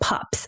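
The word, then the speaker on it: PUPPS: not like woof woof not like that kind of pups but it's called p-u-p-p-s and it stands for peritic uricarial papules and plaques of pregnancy that is a mouthful of peas I probably pronounced one of those wrong but it's called pups okay and it typically appears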